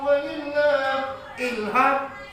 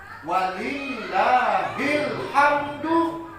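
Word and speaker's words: وَلِلَّهِ الْحَمْدُ: La ilaha illallah, Allahu Akbar, walillah ilham. Kok ilham? Kenapa tetangga saya itu Pak Ilham, pegawai rumah sakit awal urus. Walillah ilham, walillahil hamdu. Cara membacanya walillahil hamd.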